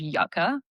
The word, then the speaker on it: Yuka: So for beauty products, the app that I use the most is called Yucca, which is spelled like Yuka.